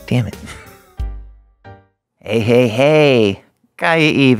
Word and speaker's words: Kaiia Eve: it hey hey hey K Eve how you doing Fab how are you doing great I said your name right right you said it right this is the first